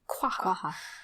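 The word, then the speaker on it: quagga: say this guy and the qua the Q is like barely there quaa okay and technically it's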